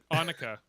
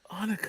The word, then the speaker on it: Annika: Annika. It rhymes with Monica, remember? Annika.